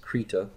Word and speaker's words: Krita: going to be using Krita from crater org or I guess it's technically pronounced Prieta and now just edit this